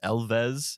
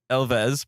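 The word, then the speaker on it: Elwes: This story stars Carrie, I believe it's pronounced Elves is how you pronounce his last name. It's Welsh. Yes. Like with V. Well, you you pronounce the W like a V.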